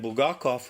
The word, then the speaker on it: Bulgakov: that would be meet I will gawk off b UL g a KO v Bulgakov and ba-gawk off was the author of one of the really